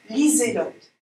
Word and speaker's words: Liselotte: En sensibilisation à la discrimination auditive, j'insiste sur l'opposition sourd-sonore S et Z. Pas lycée. Lise. Liselotte.